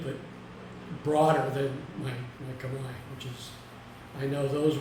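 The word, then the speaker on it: Khmer: KH h m r and we might say Kamar but it's pronounced Kamai both the language and the culture uh and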